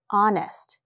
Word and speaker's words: honest: Well, honest has an H, right? It starts with the consonant H and it's pronounced honest.